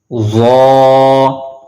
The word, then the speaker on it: ظ: ظا ظا. The same rule apply on this alphabet as well, which is a Mustalia letters. So we have to also pronounce this letter with a thicker voice.